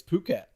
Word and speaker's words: Phuket: It's Phuket. Phuket.